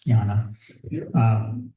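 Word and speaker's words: Jnana: Raja yoga Gana yoga by the way pleas pronounce Gana Gana yoga The Yoga of the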